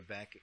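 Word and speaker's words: Beckx: However, if you look up this Father Beck, his name is actually spelled Bex, B-E-C-K-X.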